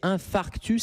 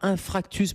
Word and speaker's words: infarctus: le prononcez très bien c'est infarctus c'est pas infractus parce que j'ai beaucoup de patients qui inversent un peu les les donc l'infarctus